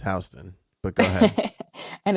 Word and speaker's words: Houston: Astro World Festival, which takes place in Houston, and It's pronounced it's Houston, but go ahead.